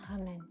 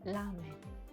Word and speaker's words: ramen: c'est pareil au Japon nous l'appelons pas ramen c'est l'Amen vous verrez dès que c'est écrit en air c'est normal qu'en France on prononce d'ailleurs je suis désolée